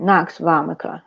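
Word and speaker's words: nux vomica: CA a c a vomica no voma right Knox vomica okay okay well thank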